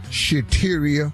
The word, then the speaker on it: Shateria: in the wrong relationship shateria that rhymes with cafeteria and yes where we